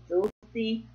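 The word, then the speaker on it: Dulles: I think it's called Dulce, D-U-L-L-E-S. Dulce. Anyway, go look it up and pronounce it.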